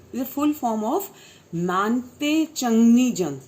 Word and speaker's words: Mangte: MC is a full form of Mante Changni Jung. Spelling is Mangte, but you would pronounce as Mante Changni Jung.